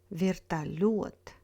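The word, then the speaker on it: вертолёт: Зеленый, береза, вертолет, мотылек.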